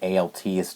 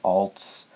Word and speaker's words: alts: I know it's supposed to be pronounced alts, not ALTs.